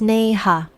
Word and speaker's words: Neha: "It's Neha." Like 2 words, Nay. "Ha." He nodded like he'd heard me and kept saying Naya for the next 3 years.